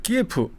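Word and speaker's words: 키이우: 그니까 키에프 지금 이제 끼우라 그러죠. 예. 프가 러시아로 발음으로 이제 우크라이나로 발음 우예요.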